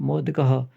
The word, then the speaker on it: मोदकः: जो ये दो बिंदी लग रखी है, इन्हें जो मतलब ये बिंदी है, इन दोनों को बोलते हैं विसर्ग। विसर्ग का उच्चारण सामान्यतः है के रूप में होता है, यानी कि उच्चारण करते समय है होता है। मोदकः, मोदक है तो मोदक के विसर्ग लगने की वजह से मोदकः हो गया।